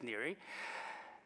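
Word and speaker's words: Neri: the southide there say ner but it's ner really if you really want the Italian pronunciation it's near well those two are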